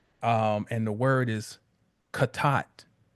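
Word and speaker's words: חטא: If you all remember, remember I was mispronouncing it. Um, and the word is kat, right?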